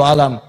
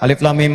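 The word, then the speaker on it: الم: Ini udah alif lam mim. Alif lam mim alam. Mbah dukun duit ini ya. Alam. Pertanyaan saya ini bacanya apa? Alif lam mim.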